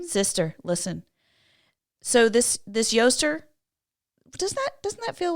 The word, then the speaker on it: Eostre: Okay, you say this word Yoster, but it's spelled Eostre. That looks like Easter. But you technically would say it Yoster, but it looks like Easter.